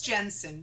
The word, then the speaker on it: Jensen: No, it's Jensen. Jensen.